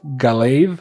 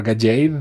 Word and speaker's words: Gallade: which is a version of Gallade or Gajade, depending on how you pronounce it.